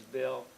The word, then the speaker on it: Bill: and my name is Bill rhymes with pill um and uh I